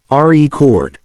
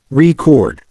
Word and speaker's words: record: When it's a noun, the stress is on the first syllable, record. When it's a verb, the stress is on the second syllable, record.